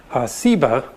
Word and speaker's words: Seba: related that has just a different s sound seba and ugly explains that Sheba's